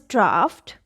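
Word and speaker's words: draught: is a little different gh is not coming at the end but it is followed by a t fortunately we do not have many words like this so this is a single word that you can learn and make children learn the meaning of this is a cool current of air right so the word is draft the next word is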